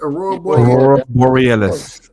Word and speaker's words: Aurora Borealis: Aurora Borealis.